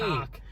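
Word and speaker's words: Koch: Cock. Boom. Yeah, that's how you pronounce it.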